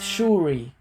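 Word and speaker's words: ϣⲟⲩⲣⲏ: SHOU, shu, and then the ru makes an R sound, and then finally the eta, which is what we're learning, is always two E's. This is very easy. Eta is very straightforward, it's just double E. So the word, when you put it together, it's shuri.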